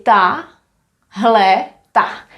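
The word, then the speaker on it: tahleta: We would say ta, hle, ta. Tahle ta paní. This woman here. Tahle ta paní.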